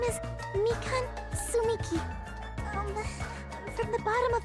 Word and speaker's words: Tsumiki: Did she pronounce the T? I don't think so. Sumiki.